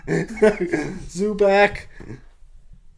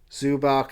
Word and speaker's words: Zubac: And maybe it rhymes with Woohack. Eva because Zub Zubac, you are a great player this year.